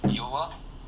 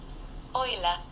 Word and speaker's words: Euler: Is that how you pronounce that word? "You-ler?" "Oiler."